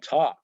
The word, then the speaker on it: talk: it's silent walk and talk we don't say walk and talk the L is silent very often the first